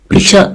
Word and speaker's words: Pichot: So then I have to pronounce the T. Pichot.